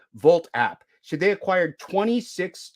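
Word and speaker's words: Wolt: it the volt w-o-l-t except it's pronounced with the v in German Vault app so they acquired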